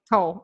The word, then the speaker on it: Tolle: Eckhart Tolle? Eckhart. Yeah. Tolle. Tolle. Okay. Some people pronounce it Tolle, Tolle.